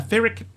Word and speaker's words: Pyrrhic: The H is silent, so it's like Pyrrhic. It's a Pyrrhic victory. Like empiric.